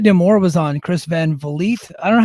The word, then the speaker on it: Vliet: And Scott D'Amore was on Chris Van Vliet. I don't know how to pronounce his last Van name. Vliet. Van Van Vliet, Vliet. like Yeah. Greta Van Fleet, but Chris Van Vliet.